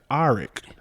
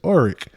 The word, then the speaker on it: Orrick: If someone's to say my name, and even in elementary, my name is Orrick, but some people pronounce it Orrick. And so it's like, no, my name ain't Orrick. My name is Orrick.